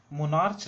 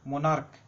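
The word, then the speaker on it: monarch: मोनार्च नहीं पढ़ते हैं, इसको उच्चारण क में होता है, मोनार्क।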